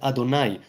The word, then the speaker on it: Adonai: And right now, it's not common knowledge how to pronounce it, which is why we pronounce it Adonai.